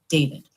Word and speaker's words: D4vd: D4 V D and if you look four kind of looks like an A. So it's David first of all and it's pronounced David.